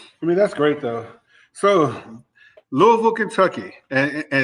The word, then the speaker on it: Louisville: It's not Louisville, you know, just for our listeners, it's Louisville. You know, you got to say all in one. all in one rhythm.